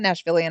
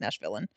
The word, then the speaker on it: Nash Villain: Oh, it's not Nashvilleian. I read it wrong the whole time. It's Nashville villain.